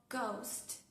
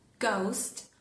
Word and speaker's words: ghost: En las letras GH. En ese dígrafo, por ejemplo, en palabras como ghost. ghost o en la palabra.